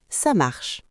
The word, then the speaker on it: ça marche: On ne prononce presque pas le « e » à la fin.